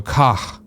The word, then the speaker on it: Koch: The CH is pronounced as an H in the word happy. So Koch.